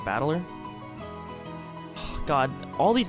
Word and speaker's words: Battler: Problem is my own name that is made up of the characters for fight and person, and it's pronounced battler or battler.